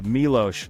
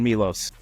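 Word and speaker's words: Miloš: And by the way, we have Milos on not Milos for the people who have a tendency to mispronounce it.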